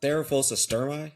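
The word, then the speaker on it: Theraphosa stirmi: There is Therophos sturmi.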